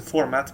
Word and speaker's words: fmt: So there are most people pronounce it as thumped. Some people just pronounce it format, because, well, the thumped here name comes from format, because it basically it